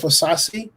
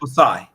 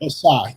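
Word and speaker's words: Ossai: And so, with that in mind, I'm going to take Joseph Osasi, if I pronounce his last name correct. Osai. It's Thank just Osai. Yep. Osai.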